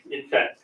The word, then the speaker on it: INCET: But finally, today, I'm very happy to be able to come here to join this 2024 Incet, or how do you pronounce it? Incet.